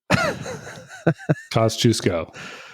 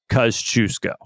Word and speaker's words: Kościuszko: things they did was give us a lesson on how to pronounce his name kusco yeah because we C I came in with I don't know how I pronounced it I know John's first time pronouncing it wasn't right I mean it it's it's a hard one to do and so we got it from the experts I I I can confidently say that we are now pronouncing his last name right kusco kusco yeah kusco